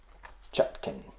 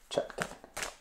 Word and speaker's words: Chutkan: All right, so let's look at Trump versus Judge Chutkin. Is that the right pronunciation? You guys will correct me. Chutkin. Chutkan.